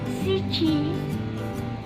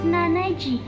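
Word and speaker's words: 七時: Pukul 7 shichi bukan nanaji.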